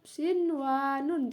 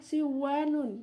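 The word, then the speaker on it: صنوان: Jadi dibacanya harus tetap sinwanun. Jadi nunnya dibaca jelas sinwanun. Tidak bisa dibaca idgham bi gunnah siwanun ya, karena nun mati bertemu dengan wawunya dalam satu kata.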